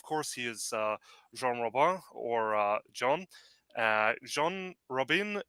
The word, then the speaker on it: Robin: very special guest John Rabin Robin hello guys yeah you can say John roban but since it's a French pronunciation you can call me John yeah I just call